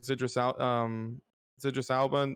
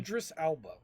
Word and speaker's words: Idris Elba: spent so much money on getting people like Zidris Alba, or I don't know how to say his name. Idris Elba.